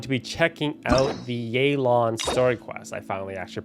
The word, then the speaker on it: Yelan: we are going to be checking out the yay lawn story quest i finally actually pronounced figuring out how to pronounce it i was pronouncing it yellow on before the actual uh release of her so